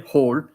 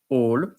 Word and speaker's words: hall: say all in French we don't pronounce the h we don't say whole we say all and sometimes we say